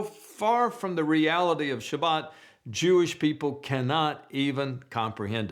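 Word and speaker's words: שבת: In Israel, Sabbath is pronounced Shabbat, and on Shabbat, everything comes to a stop.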